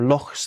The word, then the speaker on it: lochs: There are lochs there. There are, I should say it properly in the Scottish way, there are lochs there.